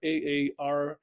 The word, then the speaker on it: Aarhus: It's in Aarhus in Denmark, Aarhus. Perfect. I'm not even going to try to pronounce it because you have it nailed.